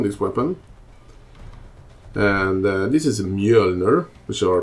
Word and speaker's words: Mjölner: builder built around this weapon and this is me owner which are pronounced in Sweden actually pronounced upright Mueller and this weapon and I'm gonna hit something